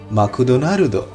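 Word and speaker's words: マクドナルド: জাপানিরা ম্যাকডোনাল্ডসকে বলে মাকুদোনারুদো।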